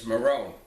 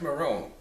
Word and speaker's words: Moron: riches Moore on let's get started it's Marrone beg your pardon it's pronounced my room fine fine I stand corrected now is